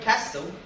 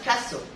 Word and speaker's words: castle: be from liverpool cedarto the word castle has a silent t it's pronounced castle not castle it's pronounced